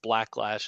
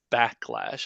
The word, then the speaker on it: Blacklash: lot of people mispronounce blacklash as backlash I see it a lot on the board like you know there's an L in there right so thank you